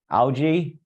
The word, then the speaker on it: algae: This would not be true of red or brown algae. Okay. So it's another reason. All right. So red or brown algae or algae however you want to pronounce both are correct.